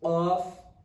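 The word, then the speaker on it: ق: So this one is qaf, this one kaf. Okay, so don't pronounce qaf as kaf, or don't pronounce kaf as off. This one qaf, this one k, the k sound, kaf, kaf, lam, lam, mim.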